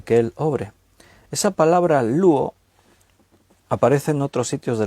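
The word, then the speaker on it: λύω: Cuando dice ahí que los elementos serán deshechos, esa palabra, deshechos, en el griego es luo, así como suena, L-U, con acento en la U, O, L-U-O, luo, que significa ablandar, soltar de las cadenas, quebrantar.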